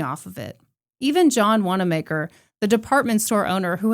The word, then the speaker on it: Wanamaker: Even John Wanamaker, the department store owner who had given her financial backing, became an enemy. Excuse me, his name's pronounced John Wanamaker. I am so sorry.